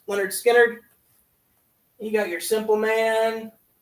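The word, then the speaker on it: Lynyrd Skynyrd: Leonard Skard with their first album pronounced Leonard Skard.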